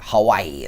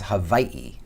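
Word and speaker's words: Hawaiʻi: the mainland pronounce it Hawaii that's my Midwestern accent gone Hawaii but there's two eyes so it's Hawaii do you want to get real technical the W's is Hawaii it's pronounced with a V so I've learned this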